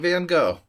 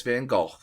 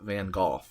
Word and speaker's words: Van Gogh: Yeah, because that ain't Van Gogh. That's Van Gogh. Gogh. I'm pronouncing that GH with, a f sound, like in laugh. Van Gogh.